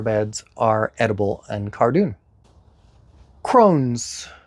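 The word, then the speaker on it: crosnes: Crones. C-R-O-S-N-E-S. Crones.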